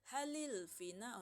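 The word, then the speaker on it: هلِ الفناء: Jadi kalau hal alfina'u, hal itu kan dia lamnya sukun. Jadi kalau kita mau bacanya gampang, mudah, enak didengar, halil, lamnya dikasih kasroh aja.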